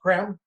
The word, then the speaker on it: Creme: benjamin creme spelled c-r-e-n-e it looks like cream but it's pronounced creme who has written about